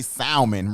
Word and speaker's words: salmon: and we said that we pronounce it with the l because we put love you put love in no salmon taco so we say salmon right so but we know